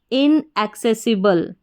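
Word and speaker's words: inaccessible: और बी एल इ बल तो पूरा इसका उच्चारण देखिए एक साथ मिलाकर इनएक्सेसिबल इनएक्सेसिबल इनएक्सेसिबल का मतलब होता है पहुंच से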